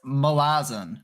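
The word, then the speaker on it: Malazan: Steven Erickson says malazin, malazin, but he also says it doesn't matter how you say it. So Okay. RJ and I say malazin, and that's how we're going to continue to say it.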